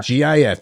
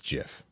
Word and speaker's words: GIF: up Steve will height the guy who invented the GFS says it's GIF but it should be GIF you're right it you even in the word graphic it's the hard G mhm it's not giric no now you're getting all